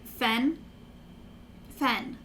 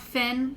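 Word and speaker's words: Fenn: p h ion technically his name is spelled f-e-n-n so his name is like fen fen not finn like the cameraman finn but it doesn't really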